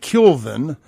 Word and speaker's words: Kealvin: mama named him because he put an extra vowel in his first name for no reason. Kealvin. It should be Kelvin, but it's pronounced Kelvin Barnett.